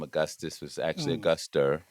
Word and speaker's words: Auguster: name augustus was actually a guster like the month of august with an er and uh but you